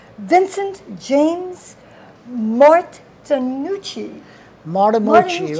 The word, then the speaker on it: Martinucci: Martinucci, right.